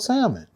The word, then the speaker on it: salmon: And and the color is called salmon. Hey, don't pronounce the L again.